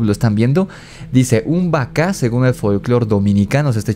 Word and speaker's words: Bacá: Buscar por su cuenta es b de burro a c a con acento como vaca como el animal pero con b grande y con acento en la segunda a y aquí está muy